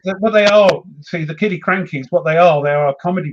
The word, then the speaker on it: Killiecrankie: Killiecrankie. And I'm probably mispronouncing that. No, I don't think you are. Okay, the new. Really? Yeah, Killiecrankie. I think that's how you pronounce it.